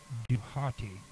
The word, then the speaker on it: Dhwty: The Egyptian pronunciation of Dhwty, D-H-W-T-Y, is not fully known, but may be reconstructed as Duhati, based on the ancient Greek borrowing Thoth or Thuet, and the fact that